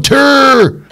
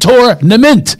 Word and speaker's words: tournament: Come on, dudes, we're going on tur. One, two, three, fur. He doesn't say that. He says four and tournament. Tournament. That's how you say it.